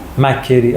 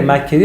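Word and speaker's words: McCrae: توضیح میدیم میریم جلو زر ز استاد ببخشید تلفظش مکه کری مک مک مک مثلست میگن کریا کری ک کرریه انگلیس مکری آره مکری و کاستا بچه‌ها امروز ما نمی‌خوایم در مورد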